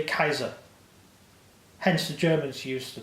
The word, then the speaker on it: Caesar: Like, Julius Caesar, it's actually Kaiser.